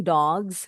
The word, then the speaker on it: dogs: The hunting dogs. Bunyi s-nya seperti z.